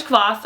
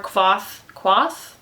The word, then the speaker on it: Kvothe: It's about this man named Kvothe, or Kvothe? You can pronounce it however you'd like. I pronounce it Kvothe.